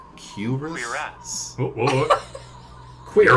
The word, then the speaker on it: cuirass: Cuirass. Cool. Curious. Very. Wait, it's curious. Q like with a Y sound? Cuirass?